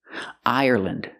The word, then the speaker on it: Ireland: Now, when you see L-A-N-D at the end of a country, it's usually always pronounced land. For example, England, Ireland, Scotland. Use the short sound, lind.